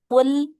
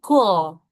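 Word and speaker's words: قل: Seperti kata qul ya yang harusnya menggunakan huruf qof artinya katakanlah malah jadi kul ya malah jadi keluar hames ya.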